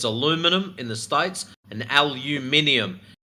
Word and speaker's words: aluminum: And it's pronounced aluminum, by the way. No, no. British English, it's aluminium. That's British live. It's actually spelled different. It's aluminum in the States and aluminium in the UK.